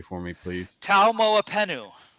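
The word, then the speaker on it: Taumoepenu: correctly for me please T MOA penu T MOA pentu is that correct no T at the end T MOA penu penu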